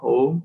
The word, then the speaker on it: Om: The syllable, like, you know, the Nirakarvadis, many, they chant Om. The focus is on the word, the syllable, A, U, and Ma, Om, Om.